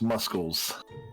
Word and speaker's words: muscles: Did you pronounce the C in muscles? Yes, muscles.